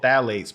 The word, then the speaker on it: phthalates: They're called phthalates, but it's spelled with a P. P-T-H-L-A-T-E-S.